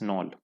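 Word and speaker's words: Knoll: तो क्वेश्चन 8 का correct answer है B, Ernest Ruska and मैक्स नॉल। के यहाँ पे साइलेंट।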